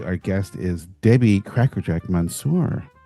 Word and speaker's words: Mansour: That Andy, today our guest is Debbie Crackerjack Mansour. Is that how you pronounce your name? Yeah, that's how I pronounce it.